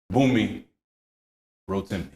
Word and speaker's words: Bunmi Rotimi: Bunmi Rotimi.